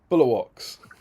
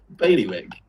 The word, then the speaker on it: Bailiwick: Bulwarks. Bulwarks? is that how you say it? It's called the Bulwark of Guernsey, isn't it? Bailiwick.